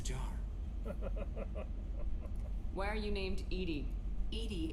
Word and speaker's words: EDI: why are you named Edie Ed is the phonetic pronunciation of E d i that is an acronym